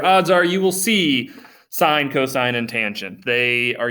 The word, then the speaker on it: sin: We have the s that looks like the word sin is pronounced sine.